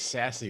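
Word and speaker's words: SASE: know that uh the secure access service edge is pronounced as sassy which i think is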